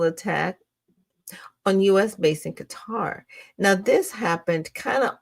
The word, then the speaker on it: Qatar: It's pronounced guitar. Like a lot of people have, like I said, I know somebody that lived there like for a minute and it's pronounced Qatar. It's not pronounced cutter.